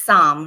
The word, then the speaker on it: Saam: Yeah, well, it's Psalm, right? Psalm, am I saying it correctly? Yes. Okay. Yeah, that's correct.